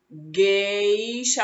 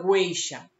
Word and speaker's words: gueixa: tem um penteado etc gueixa a gente também não falar goucha não dizemos g e acha certo gueixa G1 a ir